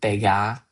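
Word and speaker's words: begar: could replace the word bega, which is written in the script B E G A R but pronounced with like a British French accent. So like a Brit doing a French accent.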